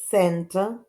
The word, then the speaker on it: center: Here is with S, center, and cozy with K.